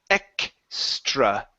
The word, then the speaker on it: extra: the K sound so the X the X in English is pronounced with AK ok so it's KS like that extra it bruh there